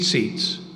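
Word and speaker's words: tzitzit: So say seats. That's what they call them. It's actually T-Z-I-T-Z-I-T is the way you spell it.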